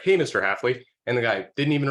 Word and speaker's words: Haffly: Haffly, or just completely butchered the guy's last name. And the guy was really mad. He's like, it's this, it's Haffly, not Haffly.